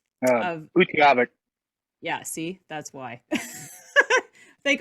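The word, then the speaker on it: Utqiagvik: to say Barrow, Alaska, because I can't even pronounce that other name. Or can you give us, what's the official name? Of Utaqgivk.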